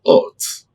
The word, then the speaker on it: oath: Oath. Not yet. This is oath.